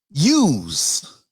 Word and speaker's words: YEWS: It's called I'm spelling it out, YEWS, which sounds like use, not like use guys, hey, use guys, No.